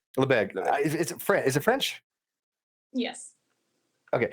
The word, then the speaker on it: Lebesgue: I hate to pronounce this word, but is it Lebesgue? Is that how you pronounce it? Lebesgue. Okay, Lebesgue.